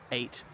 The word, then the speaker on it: eyot: And that's an 8 behind, as in a river, spelled EYOT, 8, pronounced like the number 8.